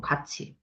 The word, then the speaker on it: 같이: 어 해도 그러니까 해도지 아 해도지 하면 안 되고 같이 요거 발음이 가치로 나는게 바로 갓이지 가치로 발음나지 같이 가자이 가자 맞지 자 야 지금 뭐예요 일단 자 어 티귿이이랑 만나서 치웃으로 변한 구개마 일어났죠.